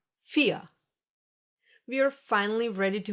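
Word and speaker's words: vier: You don't hear the R. Listen again. Fear. Nothing. Exactly. This is one example for the silent R. The one that gets pronounced like a reduced a and is found in words ending in e r.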